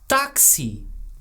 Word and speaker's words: táxi: Oh, táxi. Oh, I knew I was forgetting something. But we have a little accent there. That's true. Just to remind you to open up that A. Ela vai chamar táxi.